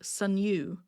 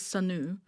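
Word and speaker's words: Sunoo: But this person said Sunu. So again, now this one I'm more confident on that I'm okay with this one, and this is Sanu.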